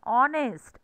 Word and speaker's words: honest: example he is an honest now here we h is silent and we are pronouncing o here and that's why here